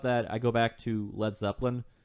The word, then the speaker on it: Led Zeppelin: Which, kind of when I think about that, I go back to Led Zeppelin. Led Zeppelin omitted the A from their name as they didn't want Americans to pronounce it Lead Zeppelin.